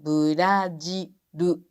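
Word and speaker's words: ブラジル: Quando, por exemplo, Brasil termina com ele, pronunciamos com R-U. Brajiru. Não é lu, é ru.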